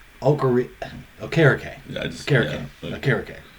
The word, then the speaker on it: Okereke: Okereke? It's Okereke. Yeah, I just Okereke. Yeah, Okereke. Okay. He changed the pronounce.